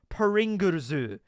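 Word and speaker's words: プリングルズ: Because Pringles in Japanese is pronounced like Pringurzu.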